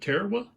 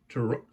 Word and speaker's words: Tarawa: A lot of people pronounce it Tarawa, but Tarawa was the way it was pronounced.